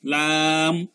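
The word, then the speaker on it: لام: তারপরে শুনলাম জাস্ট জিব্বার আগাটা উপরের দাঁতের মারির সঙ্গে লাগাইলেই লাম, লাম।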